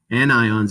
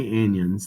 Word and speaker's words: anions: ions are called cations anions are negative don't say anyons that's not how you pronounce that it's an ions and ions there are